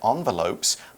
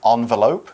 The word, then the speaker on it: envelope: now make three red envelopes by taping red paper to get at the sides all right we have a few words to look at here starting with envelope you can also say envelope it's spelled e n